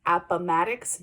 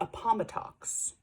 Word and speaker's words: Appomattox: the same thing as Appomattox pronounced Appomattox not a Pama talks ok it's part of